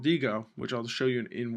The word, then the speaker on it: Diigo: I have a website that I'm registered to called Digo, which is spelled Diigo, where I would then bookmark it using its toolbar up here.